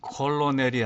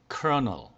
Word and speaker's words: colonel: 그 다음 것은 colonel이 아니고 colonel.